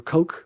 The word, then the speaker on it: Koch: Hand um I think popularized um cotchouses or coke the correct pronunciation for the German ko h coke or or is how you say it actually I believe or coke coke.